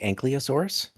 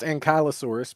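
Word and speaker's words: Ankylosaurus: My my favorite dinosaur as a kid was the Ankliosaurus, which kind of looks like Armadillo. No Are you serious? I swear to God, it's pronounced Ankyosaurus, but that's okay.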